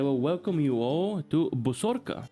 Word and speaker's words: Bosorka: welcome you all to bosorka which I'm pretty sure is how you're supposed to pronounce it this is a action